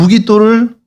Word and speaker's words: 메기도: 요곳과 요 아래쪽인데 여기 메기도라고 오늘날에는 표시되어 있거든요. 메기도 퀴즈를 드리겠습니다. 성경의 메기도가 여기에 메기도가 성경의 어느 도시일 것 같습니까? 발음을 좀 무기또입니다. 그러니까 무기또를 요시야 시대도 그렇고 솔로몬 시대도 요새화를 하죠.